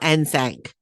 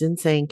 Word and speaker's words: NSYNC: always called them nsync it is nsync it's not nsanc nsanc i'm like no please stop but if i'm pronouncing it wrong correct me you're not you're absolutely not it's in sync and that's the way it is so the girls were